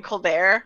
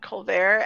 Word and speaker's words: Colbert: If you don't want to do the accent, you could also be like Stephen Colbert, where it's not Colbert, and then you could